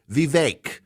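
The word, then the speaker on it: Vivek: to pronounce this right VI the vi uh rhymes with cake he said and it's a hard it's a hard e so v v v v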